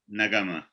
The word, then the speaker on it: Nagamah: Nagamah.